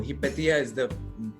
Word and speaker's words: Hypatia: Oh, Hypatia is actually how it's pronounced in Greece.